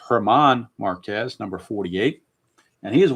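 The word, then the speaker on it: Germán: The G is a silent G or a soft G. Not silent, but soft. It's German Marquez, number 48.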